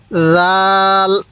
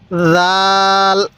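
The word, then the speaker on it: ذ: উচ্চারণ করব দাল এরপরে জাল জাল এই জালটা নরম করে উচ্চারণ করব অবশ্যই জালটা আমরা নরম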